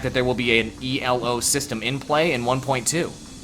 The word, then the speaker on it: Elo: do that it's not it's not an acronym it's ELO it's named after a person oh whatever it's it's